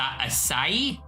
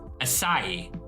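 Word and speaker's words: açaí: saying just go away that's how it's pronounced ASA asai asai huh poet you are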